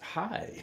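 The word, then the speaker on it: hej: I was going to say hi in Denmark, but it's hi. It's spelled H-E-J, but they pronounce it hi.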